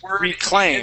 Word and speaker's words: reclaim: with this uh this word is reclaim has a long a in itaa try that good much